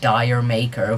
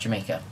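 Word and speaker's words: D'yer Mak'er: Zeppelin song, Dire Mak'er," which is not at all how you pronounce the title. I don't really care for the joke. It's alright. It's pretty funny when you actually hear people say Dire Mak'er. But yeah, it's pronounced Jamaica.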